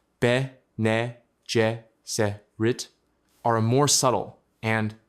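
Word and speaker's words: Bene Gesserit: The Ben Jesuit, pronounced Bejit, are a more subtle and to the guild more dangerous counterweight.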